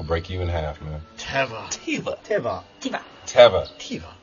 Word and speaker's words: Teva: You mean Tevas? Oh man, I meant Tevas. Teva, that's the thing that records the television shows, that's what you're talking about. It's pronounced Teva.